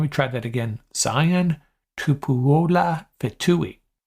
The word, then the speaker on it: Tupuola: Zion Tupuola Fetui. You want to say Tupalua, but I do not think that's the right pronunciation.